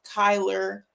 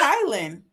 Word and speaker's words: Kylin: They be calling him Kyler. Tyler Kayn. Say my name is Kylin.